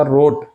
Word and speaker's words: wrote: उसी तरह से अगर रहेगा लिखना, तो लिखना का राइट V1 होता है, लेकिन V2 होता है इसका रोट, WROTE, रोट।